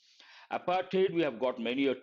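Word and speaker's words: apartheid: careful with pronunciation here it is not du sound it is a t sound apartate we have got many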